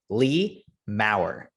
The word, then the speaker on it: Lea Maurer: we are talking to take note on the pronunciation lee maurer lee how's it going going very well thank